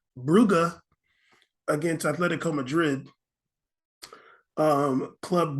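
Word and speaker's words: Brugge: how to pronounce this I thought it was Club Bruges but it's Club bruga against Atletico Madrid um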